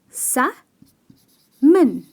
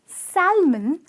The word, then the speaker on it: salmon: eaten this fish and again over here "L" is silent which means the pronunciation is sam-mn ok sam-mn . Salmon is a fish it’s a deliciously enjoyed by many and here the pronunciation is sam-mn and not salmon as like a lot of people like end up saying it that way but absolutely not correct.